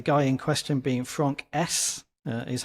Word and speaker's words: Haise: Uh the guy in question being Franck Haise, uh is how you pronounce it, H A I S E if anybody sees it written down.